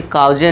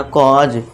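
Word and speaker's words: cause: और जा ऊपर चंद्रबिंदु, ये हो जाएगा कॉज, इसे काउजे नहीं पढ़ना कॉज।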